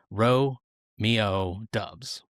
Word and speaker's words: Doubs: years at Nevada he was always referred to as Dubs. His head coach Jay Norll called him that. National broadcasters called him that. That Nevada's communication staff called him that. In fact, the Wolfpack's pronunciation guide even reads as follows. Ro Mio Dubs.